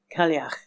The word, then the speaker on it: Cailleach: It's called Clague and references Manx folklore's Tehi Tegi.